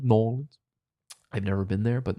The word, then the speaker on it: New Orleans: And yes, I will be pronouncing it New Orleans going forward. It's all one word, New Orleans.